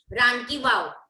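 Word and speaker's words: Rani ki Vav: RANKIVAV, रानकी वाव। Okay, Ram की वाव मतलब वो जो नहाने की जगह होती है वो ना। रानकी वाव 7 स्टोरेज स्टेप वेल पाटन में है।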